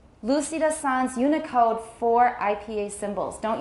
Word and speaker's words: Sans: Sans. This is a French word, but we still say the S.